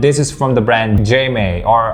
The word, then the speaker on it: JMEY: is from the brand jma or i think they pronounce it as a silent j as may or let's just call it j may so this is the